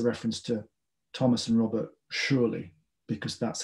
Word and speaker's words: Shirley: and that's a reference to thomas and robert surely because that's how their names would be pronounced um i think this is just the